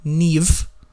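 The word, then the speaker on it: Niamh: look like that like if you put mah together in Irish it looks like if it sounds like a V so you have really you have then the name Neve and it's spelled ni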